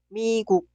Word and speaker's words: 미국: No suena k, simplemente 국. Esta palabra significa los Estados Unidos. Se pronuncia 미국, 미국. No se pronuncia 미국. Suena 미국.